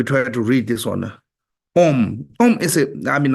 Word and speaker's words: Om: vajay a lot of time you see the OM actually om is one of the most profound Mantra oh have three syllables ah o and three three cable together